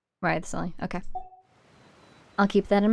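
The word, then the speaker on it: Wriothesley: I mentioned that I have had personal dealings with the administrator of the fortress, Wriley. Wriley.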